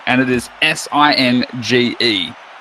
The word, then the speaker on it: Singe: Singe has proper spelling, and it is S-I-N-G-E. Having a J at the end, it should be pronounced Sinjay. But he wants it to be pronounced Singe, so that's what we do.